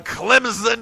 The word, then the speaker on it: Clemson: And the biggest game this weekend in college football is none other than the Clemson Tigers, and you do pronounce Clemson with a Z.